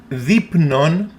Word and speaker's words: δεῖπνον: Again, the combination of epsilon iota makes the sound E. δεῖπνον μέγα.